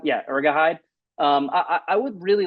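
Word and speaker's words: Urhoghide: Is that how you pronounce? Yeah, Ergahide.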